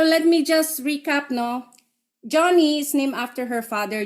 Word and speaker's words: Joni: pwede kong i-share and Joni spell j o i j o n i is pronounced johnny because she's named after her Dad John and yun Iyung yun